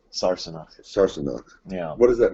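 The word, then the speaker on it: Sassenach: I know it's still pronounced Sarsenok.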